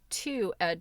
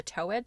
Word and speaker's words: two-edged: It was an awful embarrassment to me to find that it was actually a twoedged sword. I'm guessing maybe she called it a towedge sword is what she's saying. Long O toe.